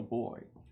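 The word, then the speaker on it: Beaux: First is Bo, spelled with an E-A-U-X, so you know he's from Acadiana.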